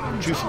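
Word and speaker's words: Jusi: Like, his name is Juicy, J-U-I-C-Y. J-U. Yeah, pronounced as J-U-I-C-Y, but my name is J-U-S-I.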